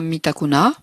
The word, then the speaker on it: Mitakunah: une réalité en nous la prononciation du mantra mita canada ainsi en mettant l'accent sur la dernière syllabe sinon mis d'accord ce